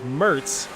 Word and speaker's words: Mertz: I was wondering how the specific pronunciation of Zach's last name was. It is Mertz.